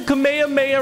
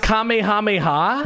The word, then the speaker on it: Kamehameha: there we go the nimbus cloud and the kamehameha right here okay so that's how the nimbus